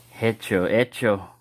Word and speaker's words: hecho: I probably said hecho. The H is silent in Spanish.